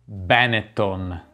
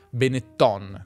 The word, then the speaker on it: Benetton: Non avevo dubbi che l'avresti pronunciata così, ma no, questa marca viene da un cognome veneto che si pronuncia Benetton, come tutti i cognomi veneti e friulani che finiscono con la N, Padoan, Trevisan, Visentin. E anche se qualcuno dice Benetton, è sbagliato.